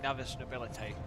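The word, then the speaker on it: Navis Nobilite: Alright, I'm glad I was pronouncing Navis Nobility correct, that's good.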